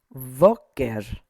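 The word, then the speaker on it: בֹּקֶר: Voker. Voker. Emphasis is here on the V.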